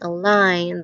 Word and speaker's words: align: And how about silent G? There's sign, design, align. That G is doing nothing at all.